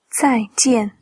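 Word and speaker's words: 再见: 再见，再见， Alors pour la prononciation, on a Z-A-I, quatrième ton sur le A, J-I-A-N, quatrième ton sur le A.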